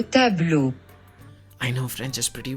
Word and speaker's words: tableaux: 'tableau' without the x which is pronounced exactly like the tableaux with the x paintings, painting tab-lo, tab-lo I know French is